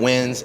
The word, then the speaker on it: Nguyen: Y'all probably heard or know plenty of wins. Nguyen is pronounced Win.